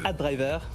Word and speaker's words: AdDriver: AdDriver. Ah oui, ça s'écrit ADRIVER. ADRIVER. Je le dis parce que c'est pour la radio. Oui, okay. Parfait. AdDriver.